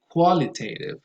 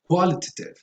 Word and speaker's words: qualitative: So you say qualitative, quantitative. I think in British English you say quantitative, qualitative. That's fine, but still the stress, even if it's British English, goes on the first syllable.